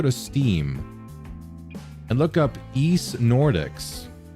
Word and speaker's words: Ys: I believe they did that for the East um translators. And by East, I mean the East series. I don't know if you pronounce it Wise Stew specifically. It's supposed to be pronounced East.